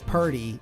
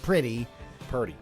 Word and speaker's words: Purdy: It's Purdy, not pretty. Purdy.